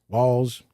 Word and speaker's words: Walz: This guy, Tim Walz, Walz rhymes with balls, it's not for America.